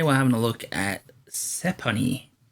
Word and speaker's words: Sephonie: Today we're having a look at Sephonie, I think it's pronounced. It's like Stephanie, but without the T.